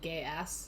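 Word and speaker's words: Geass: it's a binding vow I still say it like gay ass yeah that's how you remember how to say it yeah you look at you look at Su you look at suca and you think gay ass God I wish uh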